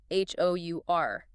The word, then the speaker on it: hour: What about words with silent letters like hour? H O U R. The H is completely silent. Your vocal cords engage on the sound which is a vowel sound, right?